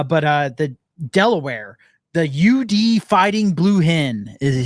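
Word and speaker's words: YoUDee: Uh but uh the Delaware the UD fighting blue hen is his name is UD. UD. And it's it's spelled capital Y lowercase O capital U capital D lowerase E lowercase E.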